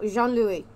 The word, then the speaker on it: Jean-Louis: my ex was like john i go no jean-louis what it's pronounced in french my dude then once